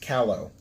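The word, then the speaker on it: Callao: in pronunciation really wow it's c-a-l-l-a-l it's actually pronounced callow who would have thunk callow really wow well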